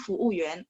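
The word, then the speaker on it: 服务员: biasanya fuuyuan ya, pelayannya fuuyuan. Saya boleh tulisin teman-teman kosakata yang mungkin bakal kepake kalau misalnya teman-teman jalan ke sana ya. Fuuyuan. Sebentar. Bisa ya. Yuan. Ingat, yuan bacanya mulutnya agak sedikit yuan.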